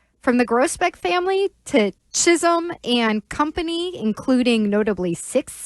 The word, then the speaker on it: Chisholm: Are we going Chisum or Chisolome? Because we may have a Chisum on the Patriots roster. Do I really need them to be pronounced the same way?